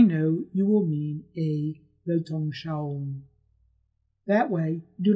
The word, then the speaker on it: Weltanschauung: need to know that the letter W in German is pronounced like the letter V in English. The word has 4 syllables: Welt, An, Schau, Weltanschauung.